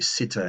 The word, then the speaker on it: sitte: Both T's are pronounced, by the way. Just like in modern English, when we say the word good day, the D is pronounced twice. Good, the D on the end of good, and then day.